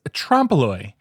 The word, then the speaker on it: trompe-l'oeil: Today's word is trompe-l'oeil. It's spelled Trompe'L'.